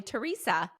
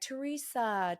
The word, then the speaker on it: Teresa: normal as an American because like Americans will be like Teresa, Teresa. And she calls me with a Z. Like it's pronounc Yeah. I say it with a Theresa cuz that's how we say it in Australia.